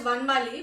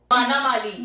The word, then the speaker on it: Vanamali: No, so I pronounce my name as Vanmali, but that's not how my name has to be pronounced. It's actually Vanamali. Vanamali.